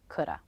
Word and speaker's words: coulda: reductions sound like natural American English shoulda woulda coulda shoulda woulda coulda these three words together is